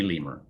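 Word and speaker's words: Lehmer: me could be yes that's exactly how you pronounce dudley's last name dudley lemur it's l-e-h-m-e-r but yeah spelled like a non-monkey uh primate or sounds like a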